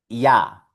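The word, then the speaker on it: ja: Ya. Significa sí. El sí en alemán es ya. Aquí tenemos otra palabrita que tiene la letra J. Y esto se pronuncia ya.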